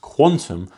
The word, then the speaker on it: Qtum: Actually, I pronounced that wrong. It's pronounced Quantum. But you know what? It looks like Qtum, doesn't it? Right? I say I'm not an altcoin genius. You guys would probably go, "Oh, what I said Qtum." But anyway, Quantum is supposedly how it's pronounced.